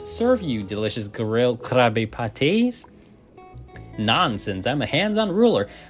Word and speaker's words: Krabbye Pattye: So yeah, Krabbye Patties, not Krabby Patty.